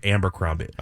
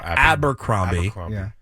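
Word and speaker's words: Abercrombie: the dressing room of I always say it wrong abber cromie abber I say amber amber cromie abber cromie and he was in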